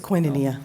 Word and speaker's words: Koinonia: Youth Contract Amendment with Koinonia. I think I said that right, Foster Homes? It's Koinonia. Thank you, I did say it wrong.